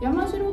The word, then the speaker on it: 山城: ましたけれども、山城といえば山にある